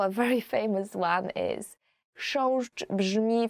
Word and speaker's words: chrząszcz: will ever learn in Polish, as for the pronunciation, is chrząszcz.